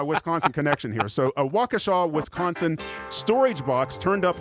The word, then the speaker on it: Waukesha: So, a How's this county pronounced in Wisconsin, Matt? It's a town. It's called Waukesha.